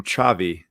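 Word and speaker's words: Xavi: is a better buy you pronounce his first name chavi i learned that one over in spain because my one of my professors spelt his name that way as chavi cut the line you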